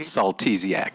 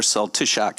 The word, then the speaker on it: Saltysiak: Saltak Zia. Please correct me on the pronunciation of your last name. You were closer than most. Okay. May I hear the correct pronunciation? Saltiziak. Saltiziak. Or Saltysiak in Polish.